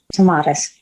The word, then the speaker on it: Tomatis: Is that how you pronounce it? The Tomatis? You did great, Tomatis.